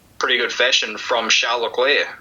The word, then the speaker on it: Leclerc: it in pretty pretty good fashion from shall Locklear say or Chuck Charles Leclerc I'm not hearing pronounces his name I've heard several different different pronunciations I'm still going with Charla Claire that's you know to say that you convincingly